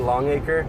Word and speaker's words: Longacre: Matt Longacre and a lot of people can't pronounce his name right but it's Matt Longacre and he's gonna be coming back I think